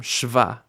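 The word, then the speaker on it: שווא: sound it makes but the simplest way to learn the sound that shva makes is to say its name shva shv right this vowel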